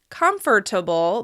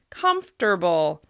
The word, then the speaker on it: comfortable: Instead of having 4 syllables, comfortable, the word actually has 3 syllables. Comfortable. Comfortable. As you can hear, that second syllable has completely disappeared in natural pronunciation.